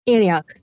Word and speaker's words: Antioch: a roommate from anog is it anog or Antioch anoch that's how they say it and do you